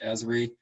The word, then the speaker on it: Esri: would be environmental systems research institute uh usually pronounced esri these guys are the um the kind of